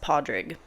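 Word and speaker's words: Pádraig: a d r a i g which is pronounced padrig and so that's with a d so um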